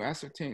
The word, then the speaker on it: ascertain: uh i ascertained it can you can you ascertain excuse me yeah you're right yeah it's pronounced ascertain you're exactly right but it's spelled